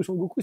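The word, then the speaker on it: Son Goku: pérégrination vers l'ouest puisque sukong c'est la prononciation chinoise donc originale de s Goku s Goku c'est la prononciation japonaise tin voilà donc quand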